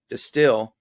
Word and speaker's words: Destihl: I was speculating because Destihl with the H is still pronounced the same as Distill with the J.